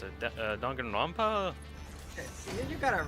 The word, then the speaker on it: Danganronpa: I can never remember how to pronounce it. Danganronpa.